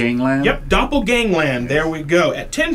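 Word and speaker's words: Doppelgangland: pronouncing her name I'm going to have trouble pronouncing this D Gangland yep Doppel Gangland there we go at 10 p.m.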